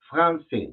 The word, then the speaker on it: français: Si te das cuenta, tiene la C, cedil, que le llaman, que hace el sonido de una S, ¿no? Y ahí dice Dictionnaire Illustré Français.